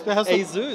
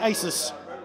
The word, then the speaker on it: ASUS: Asus sorry Asus as ASUS ASUS ASUS is apparently the official proper way to pronounce it unlike me who's been spending the last decade and a half saying Asis it's okay blun there